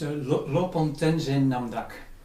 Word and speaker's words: Lopon Tenzin Namdak: Yeah, it's Lopon Tenzin Namdak.